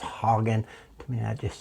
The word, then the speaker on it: Hagen: I want to say Hagen, but it's pronounced Hogan.